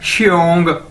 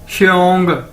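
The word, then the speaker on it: 兄: Next है जी हमारे पास एक्स, आपको पता है हम किस तरह प्रोनाउंस करते हैं, किस तरह, शीन की तरह, ठीक है, श, तो XIONG क्या बन जाएगा, श्योंग, श्योंग श्योंग श्योंग, ठीक है, श्योंग।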